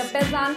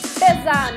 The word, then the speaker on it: بزن: Okay, I want you to try and sing the next chorus with me, the bezan part, okay? It's just 2 syllables. Bezan, bezan, bezan.